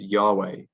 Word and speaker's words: Yahweh: w h um and the best reconstruction we have of how that would have been pronounced um is yahweh um so that is